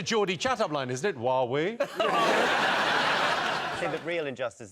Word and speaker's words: Huawei: Huawei. I think it's a Jordi chatup line, isn't it? Huawei. See the real injustice that is not pronounced hui because whooui would be great be like lra is